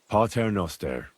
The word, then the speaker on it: Pater Noster: You're saying it wrong. Listen. It goes like this. Pater Noster, qui es in celis, sanctificetur nomen tuum. Adveniat regnum tuum. Fiat voluntas tua. Sicut in cielo et in terra.